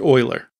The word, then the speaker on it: Euler: fixed update right rigid body rotation equals quaternion Euler and yes it is pronounced Euler which is also an XY and Z value